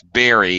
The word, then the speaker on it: bury: they're learning English it's Berry it sounds exactly the same as the little fruit that you eat a berry I love blueberries and